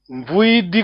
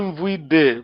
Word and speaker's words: vuidi: Então, vuidi, cuidado, é I no fim, não é vuide, porque mesmo em Luanda, fazendo aqui estamos live, Kizole Mambo, Kizole Mambo.